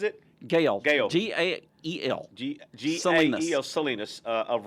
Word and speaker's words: Gael: Is that how he pronounces it? Gael.